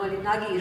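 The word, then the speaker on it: Moholy-Nagy: And there, the person who came in very handy for me was Molinaj. I don't know how you pronounce Molinagi is what we discovered.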